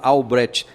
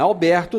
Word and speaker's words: Albrecht: Ele vai soletrar aqui, porque às vezes o pessoal vai procurar Alfredo Alberto. Não é Alberto, não, é Albrecht. Como é que escreve esse Albrecht seu?